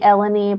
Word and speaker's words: Elani: that every time because I want to say like Melody elanie but it's elani right it's okay I I wrot down a I wrote down a little pronunciation guide for myself because I as a person I'm like oh like rhymes with Melanie Melanie yeah technically there's